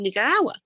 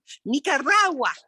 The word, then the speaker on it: Nicaragua: say it correctly and i spent hours and hours and hours rolling my tongue nicaragua and i practice and